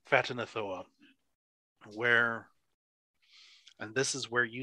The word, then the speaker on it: Ghatanothoa: With many eyes, you would know this to be an ancient being known as Phatanothoa. Ghatanothoa. With a G-H pronounced as an F, because I like it that way. Phatanothoa.